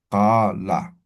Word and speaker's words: qala: Vamos a pronunciar desde la garganta, ¿no? Qa, ¿no? A ver, practiquen. Qa, ¿no? Qa, ¿no? Qa. ¿Ya? Desde la garganta. Qa, ¿no? Qala.